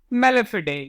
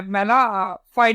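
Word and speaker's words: mala fide: ये आपका मेलेफिडे, या आपका क्या मेलेफिडे, या फिर आपका वी कैन से मेला फाइड भी बोल सकते हैं। ओके, अलग अलग इसके प्रोनाउंसिएशन है। ओके, फिडे बोलोगे वो भी सही है। ओके, वही ज्यादा सही है।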